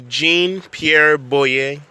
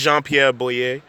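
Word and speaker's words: Jean-Pierre Boyer: second President of Haiti jean-pierre boy yay or that's how you say it in American American but in Haitian Creole is jean-pierre Bui you know he did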